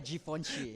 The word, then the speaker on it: Givenchy: Cara bacanya Givenchy.